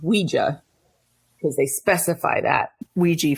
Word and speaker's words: Ouija: the Hasbro rules apparently Ouija or it is pronounced Ouija because they specify that Ouija for me sorry